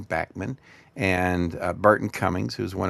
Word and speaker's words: Bachman: first around with Randy Bachman uh who pronounces his name Bachmann and Burton Cummings who's one of my favorite heroes.